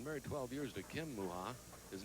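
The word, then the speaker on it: Mucha: Well, he's been married 12 years to Kim Muha. His name is spelled M-U-C-H-A, by the way.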